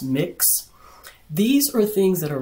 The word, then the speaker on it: Mx: know someone's gender like mx it's pronounced mix these are things that